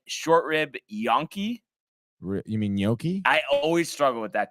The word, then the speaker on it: gnocchi: wrong wait so say one more time it's gnocchi gnocchi young monkey yonki yunki yonki that i